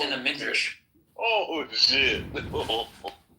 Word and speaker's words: Midrash: It's in the Midrash. It's in the Midrash, okay. But like, what's up with like black people being cursed? It's actually pronounced Midrach.